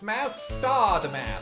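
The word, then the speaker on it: Mask☆DeMasque: well first things first you're pronouncing it wrong in this mass star damask some people say the star is silent but i think that's dumb anyway like about how i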